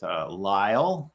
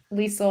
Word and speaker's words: Lisle: to be here with Lyle um ly gwy gy did I pronounce that correctly you did which well done you get five stars because that's all right most people pronounce it lisel or you know what I'm